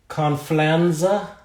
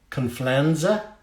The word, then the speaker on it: Confianza: And we are at Leish's Lacquer, Confianza. Rhymes with George Costanza.